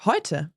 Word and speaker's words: heute: I mean, So- it is similar to the sound oi in boy or Yeah.